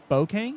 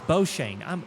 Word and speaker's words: Beauchene: in the 64 machine, Mr. Ryan Bokang. Am I saying that right? Like, I think I said it right at one point in my life. Oh, no, it's not. It's Boshane. I'm a ding-dong.